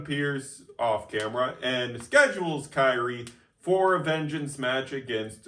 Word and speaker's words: Kairi: Yeah, so tonight, Yep, so Kairi is getting a little bit of punishment.